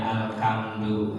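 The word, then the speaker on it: الحمد: Ha itu bersih ya, ha dari tenggorokan, huruf khalq. Ya, kadang-kadang ada yang bacanya alham. Ada juga yang dibacanya alhamdu, nah, gitu.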